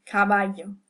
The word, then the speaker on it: caballo: But in general, we'll hear the sound y, as in caballo, meaning horse.